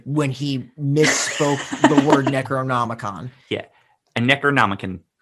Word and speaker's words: Necronomicon: large book and he thinks this is a necronom cringe I was so tilted when he misspoke the word Necronomicon yeah a necron it's not like instant regret